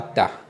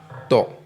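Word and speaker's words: ط: Donc vous voyez ça écrit ici, c'est pas ta mais to. Donc c'est une lettre tique. Donc on ne prononce pas comme à cause du point, on prononce ça to et non ta.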